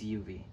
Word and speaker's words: UV: So, thank you so much for giving me the opportunity to collab with you, UV. It's UV. It's pronounced like the initials on my profile!